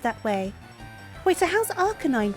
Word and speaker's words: Arcanine: way wait so how's Arcanine pronounced or is it okay no I see rk9 sounding Out the a but it's meant to be Arcanine right like a canine I say that that